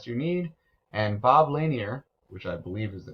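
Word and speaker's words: Lanier: long what size do you need and Bob laneer which I believe is the correct pronunciation who once played in the NBA where's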